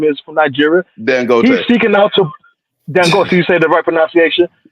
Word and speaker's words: Dangote: Like you can point out Dangati, right? Whatever his name is from Nigeria. Dangote.